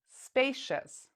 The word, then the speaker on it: spacious: at the third word now spacious spacious so what do you hear in this one do you hear see us or do you hear shus spacious again the answer is